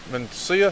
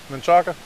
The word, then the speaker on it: Menchaca: So, Mencia, is that how you say it? Menchaca.